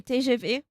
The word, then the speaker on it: TGV: You're allowed to pronounce the TGV the French way. TGV. TGV, yeah.